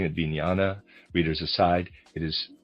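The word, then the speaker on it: vijnana: I'm pronouncing it vinyana.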